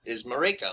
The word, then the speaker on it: Marika: But the pronunciation I just happen to know is Marika, like Jamaica.